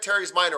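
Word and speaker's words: teres minor: mr yen hold on you said terry's minor i think which is correct so tear hair ease each minor last one the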